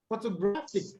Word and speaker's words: photographic: So here, photographic. Okay, so the stress, the penultimate syllable.